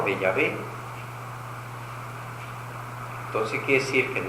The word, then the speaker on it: Yahvé: Aunque después los modernos eruditos bíblicos dicen que no es correcto pronunciar Jehová, el tetragrama hebreo que expresa el nombre de Dios, sino Yahvé.